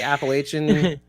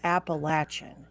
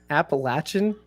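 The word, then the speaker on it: Appalachian: York mouth right now it's not that's not how you say it what it's appalachin get out of here appalachin yes well I stand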